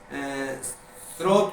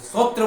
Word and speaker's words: स्रोत: या विद्यालय बोलते हैं स्रोत को सत्र बोलते हैं तो पूरा का पूरा